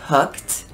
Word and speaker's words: hooked: of them is hooked so when we say hooked you get the k and the e d has like a t sound hooked so even though it's spelled e d we say it like it's a t hooked like that 80s